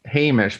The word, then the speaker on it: Hamish: But yeah, I mean, Hamish, how do you say it? Linklater? I think it's Hamish, but I might be wrong about that. Hamish sounds right. That does sound correct.